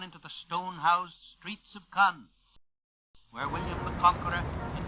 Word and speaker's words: Caen: The Allies have driven into the stone-housed streets of Caen, where William the Conqueror in 1066 assembled the fleet with which he invaded England.